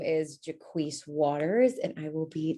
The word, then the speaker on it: Jacquis: if time allows uh so again first name jaquise uh i spell it j-a-c-q-u-i-s uh fun fact a couple of